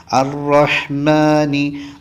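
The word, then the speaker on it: الرحمن: ശരി അടുത്തത് അറഹ്മാനി റഹീം അറഹ്മാനി റഹീം അത് നമ്മൾ ശ്രദ്ധിക്കണം റാഹ് ശ്രദ്ധിക്കണം റാഹ് ചുണ്ട് ഇങ്ങനെ കൂടി വരാൻ പാടില്ല അതോടൊപ്പം തന്നെ തഫ്ഹീം ആക്കുകയും വേണം വായ നിറച്ചു പറയുകയും വേണം അറഹ്മാനി അറഹ്മാനി റഹ്മാനി റഹീം അറഹീം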